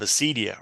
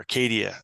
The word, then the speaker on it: acedia: Going back further in the Catholic Orthodox tradition, the concept of acedia or acadia, it's sometimes pronounced, that Evagrius talks about, which is, really trying to understand it as a spiritual malaise.